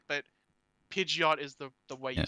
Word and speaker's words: Pidgeot: way i've heard uh people pronounce uh pidgeot and pidgets oh yeah again both aren't technically wrong in terms of the actual like seeing it and going that's how you say it but pidgeot is the way you